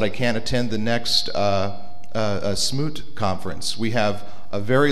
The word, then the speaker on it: ShmooCon: can't attend the next Smoot conference. We have a very large conference coming up in January in Washington, D.C., Smoot conference. We usually use the French pronunciation of that as well, which is Shmoo.